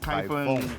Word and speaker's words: Kaifeng: ไคร เฟิง นะ ฮะ ใคร เฟิง ใคร เฟิ เดี๋ยว คน ไทย เรา ออก เสียง เฟิง ไม่ ได้ ก็ จะ ออก เสียง ว่า ฟง นะ ฮะ เดี๋ยว จะ เดิน